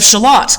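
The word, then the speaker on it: Shalott: sir lancelot okay and the lady of shalat because it rhymes like that it's kind of fun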